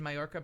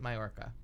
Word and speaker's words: Mallorca: that you pronounced it Mallorca oh okay so there's a lot of people that that the L is silent apparently they'd say it wrong both of them well two L's become a y so yep I think